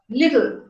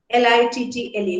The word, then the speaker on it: little: So again, in the first syllable, you have L and E. E is the vowel. In the second syllable, you have T and L. T and L are both consonants, but in this particular syllable, L has got a syllabic quality.